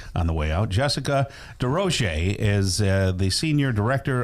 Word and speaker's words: DesRosiers: Jessica D Rochce is uh the senior director of programs and services for Alzheimer's Association.